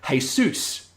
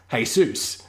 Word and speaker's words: Jesus: a lot of people have the name hey suits which is spelt like Jesus is spelt but it yeah hey soos so a lot of